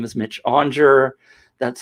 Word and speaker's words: Aunger: go by mitch my name is mitch onger that's spelled a-u-n-g-e-r in case you want to look